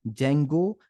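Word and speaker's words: Django: कि हम कहते हैं जंगो एंड फल स्क अच्छा यहां पे डी जंगो नहीं है डी जो है साइलेंट है इस बात पे ध्यान दीजिएगा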